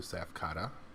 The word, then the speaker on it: Tsaph: It's Tsaph Day Off. I believe the T is silent.